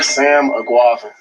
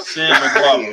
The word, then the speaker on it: Sam Eguavoen: Sam Eguavoen. Yeah. Seems easy enough. Sam Eguavoen.